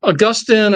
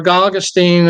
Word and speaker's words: Augustine: uh of uh uh Augustine or Gustine again depending on where you're from can pronounce it either way okay um replacement Theology